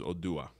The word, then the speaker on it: Odua: So the full name is Oduduwa, but the short name, which the one mostly everyone says, is Odua, which is much more digestible.